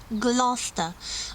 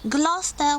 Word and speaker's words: Gloucester: The proper way of pronouncing this name is Gloucestershire, and the cathedral city that gave its name to the county is Gloucester. Gloucester, with beautiful, very well preserved Gothic cathedral and the cloisters.